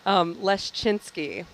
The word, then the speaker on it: Leszczynski: Leszczynski. It's got many consonants in a row. There's a Z, isn't there? There's 2 Z's, and they're both silent.